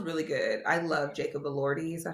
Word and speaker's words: Elordi: I love Jacob Elordi.